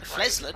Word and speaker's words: Flesland: The E is pronounced as in excellent, so Flesland. Oh, I'd say radar.